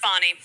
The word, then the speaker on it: Fani: Fanny chances F I call her it's F Fanny but pronounced fonnie okay so she when when this all first